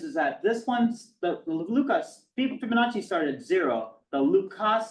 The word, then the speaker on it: Lucas: pronounce this Luca not Lucas that's an Americanization of the beautiful French name Luca so we have start